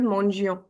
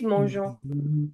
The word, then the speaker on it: mangeons: Nobody's going to pronounce it as mangions. It's mangeons. Vous mangez, il elle mangent.